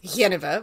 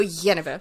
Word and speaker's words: Genever: Do you pronounce it Genever or Genever? Well, I pronounce it Genever, but that's because I'm English. I'm going to go Genever.